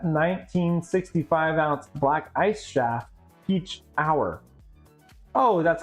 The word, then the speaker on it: Pechauer: Peach hour. Oh, that's how it's pronounced. Peach hour.